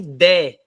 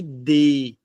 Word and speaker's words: dê: aqui não é me D não é me D um abraço é me dê fechado então o acento que